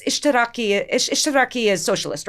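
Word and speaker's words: اشتراكي: Like I would pronounce like it's Ishtiraki Ishtiraki is socialist, right? So I would I wouldn't know how it was pronounced, so I'd call it like Ishtarki and people My friends would look at me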